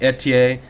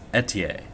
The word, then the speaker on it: Ethier: not fer fda it's a TA he's french-canadian and that is how it's pronounced so I made sure